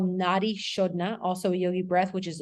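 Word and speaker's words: nadi shodhana: bastrika which is a fast belly breath um it's spelled b-h-a-s-t-r-i-k-a bastrika um and that's a yogi breath then there's something called Nadi shodna also Yogi breath which is a slower breathing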